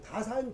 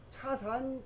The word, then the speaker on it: 다산: 근데 중국 발음이 차니까 지금 차례라고 하고 우리는 다산 정약용 선생이거든. 근데 차산 정약용 선생이에요.